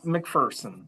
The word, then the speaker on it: McPherson: to Okay, I'm saying McFersonson is the preferred pronunciation. McFersonen. It is McFersonen.